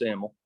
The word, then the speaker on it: Emmel: Yeah, Bryce Emmel.